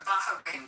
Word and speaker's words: Bahrain: Bahrain, by the way, is how you say it, but they're absolutely our allies.